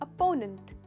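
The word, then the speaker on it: opponent: Correct pronunciation है अपोनेंट। तो इसमें अपोनेंट नहीं है, नंट है, तो ओपोनेंट नहीं है, अपोनेंट। कहिए अपोनेंट, इसमें आप स्ट्रेस करते हैं यहाँ।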